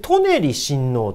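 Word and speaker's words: 舎人親王: たのはこれこれで舎人親王と読みます舎人親王という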